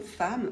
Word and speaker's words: femme: femme évidemment patiemment al alors le mot femme c'est une exception il y en a plein en français femme c'est une exception normalement E2M ne fait pas a pour les adverbes par